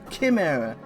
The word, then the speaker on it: chimera: ch which is a it's pronounced with a k right perhaps with a